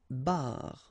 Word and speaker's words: barre: And then une barre. Okay, so you can hear that it's exactly the same way that you pronounce, but then you get R, R, and then E.